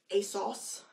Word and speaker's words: ASOS: world I think um British people say like a sauce I Asus a sauce